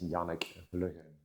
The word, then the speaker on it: Janek: to be pronounced in the Dutch language. It says Yanuk.